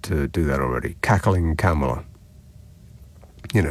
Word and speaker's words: Kamala: And now we've got this Kamala, pronounced Kamala. I'm never going to get used to that because it looks like Kamala to me, but it's Kamala, apparently.